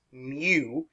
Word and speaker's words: mu: that's spelled in you it's pronounced mu kind of like uh the pokemon and with this here